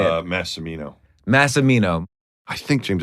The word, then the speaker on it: Massimino: We've got Mike Massimino on the podcast. Did I say it right? Nah, you screwed that up, man. How do you say it? Massimino.